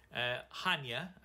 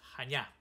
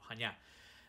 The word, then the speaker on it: Chania: Right, to let you know, most English speaking people called the town or city Chania. The correct Greek pronunciation is Chania, the emphasis on the last syllable, Chania.